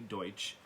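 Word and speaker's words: Deutch: movie uh zoe deutsch i thought it was dutch at first but then i heard her pronounce it and it's apparently zoe deutsch uh who i love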